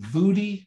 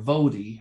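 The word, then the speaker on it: Voddie: For the next 2 weeks, we are going to be hearing from a person called Vudi or Vodi. I've heard it pronounced both ways, Bakum.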